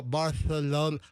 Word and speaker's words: Barcelona: M it's like Barthol like we'll say Barcelona the Spanish they go Barthal Barthal Bara Bartha there's like this lispy Spanish sound which is appropriate in the Spanish pronunciation with not Mexican Spanish not Puerto Rican Spanish or but South American with Spanish like the the original like castan Spanish uh that that lispy sound.